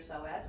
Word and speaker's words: psoas: you've heard of your soaz or have you seen the word so as spelled it has a silent p in front of it so it's PS o a s yeah it's got a